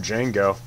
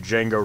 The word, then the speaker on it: Django: just listen to some Django that might be what I want to do it's spelled with a D right at the beginning if you want to